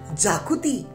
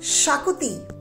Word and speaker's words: Xacuti: interesting Goen recipe and that is of the Shakti many people mispronounce this Shakti as jaui but it is Shakti so let's get started with it on and